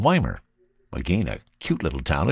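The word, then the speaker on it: Ymir: In fact, just a little south of Nelson, near a town called Weimar. Again, a cute little town if you've never been there. That's Y-M-I-R, and it's Weimar. That's how you say it.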